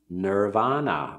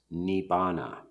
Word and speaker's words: Nibbana: for that would be Nirvana or Nibbana I am from the Terra bada tradition the early suta's and the word which is commonly pronounced nirvana in Sanskrit is pronounced Nibbana so we use that